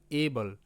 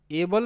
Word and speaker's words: able: এভাবে দিতে হবে এবং এখানে ই এর উচ্চারণটা হবে না।